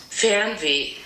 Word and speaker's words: Fernweh: This word is actually really hard for native English speakers to pronounce. I'm going to do my best. Fernweh. So this is what it sounds like on Google Translate. Fernweh.